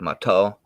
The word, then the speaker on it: Mato: your name is it matau is that a more correct pronunciation oh that i'm working with you're fine in lakota or dakota it's going to be more like mato mato and in potawatomi